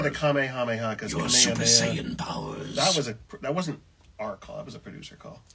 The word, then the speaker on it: Saiyan: Saiyan, for example, could be Saiyan or Saiyan. Saiyan. Saiyan is what we were.